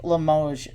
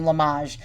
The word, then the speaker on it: Limoges: let's zoom on that okay this is antique Limoges or I mean lamaj I used to call it Limoges before I looked up the pronunciation but you